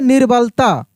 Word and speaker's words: निर्बलता: हो गया नी, और देखिए इसके बाद र का उच्चारण हो रहा है लेकिन काफी तेजी से हो रहा है।